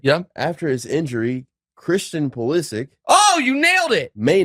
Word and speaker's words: Pulisic: the Netherlands Saturday yep after his injury Christian pulisic oh you nailed it may not play he's